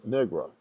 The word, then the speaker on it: Negro: rather lengthy passage where one of the students is asking the mayor to pronounce Negro, and he keeps saying Negro. And the student takes him through saying knee, as your knee, grow, G-R-O.